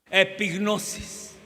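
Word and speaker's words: ἐπίγνωσις: ¿Alguno de los presentes que han oído me puede decir cómo se pronuncia la palabra conocimiento pleno en el griego? ¿Cómo? Epignosis.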